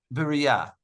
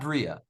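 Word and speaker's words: בריאה: of the expression so the correct Hebrew pronunciation would be um Berea but not Bria Berea but not birya sort of it's like it's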